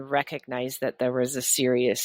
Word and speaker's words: Sirius: The Syrians from A and B and C star constellation. Did I pronounce that name right? So it's Sirius is the constellation, and it's the brightest star in the sky that we can see.